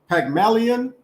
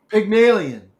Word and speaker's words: Pygmalion: you're gonna help me for not help me pronounce this sure pagmalian pygmalion there you go okay millions an old character